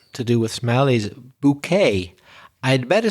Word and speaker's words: bouquet: Normally we would pronounce tea at the end of a word in English, but because it's French, we pronounce it bouquet.